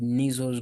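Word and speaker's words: Nissl: I can even add on the third, but they called nasles granules. Like this is the nasle. N I S like that. Nasles.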